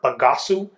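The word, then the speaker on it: bagaço: from grape pumice or pagasu is how you say it in Portuguese and it's the pumice this bagasu is what's left over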